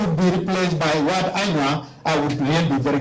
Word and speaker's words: Anua: Then I told the chief, I told the king that, but we used to hear the word Anuak, so why were you not telling us earlier it is Anua?